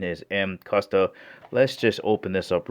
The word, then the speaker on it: Mcusta: all right before beginning the actual correct pronunciation is m kusta so there's a lot of people out there pronouncing it mccusto which is fine too